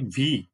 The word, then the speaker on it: wie: হাউ টাকে বলা হয় wie। জার্মান ভাষায় W এর উচ্চারণ V এর মতো না? এজন্য এটা হলো wie।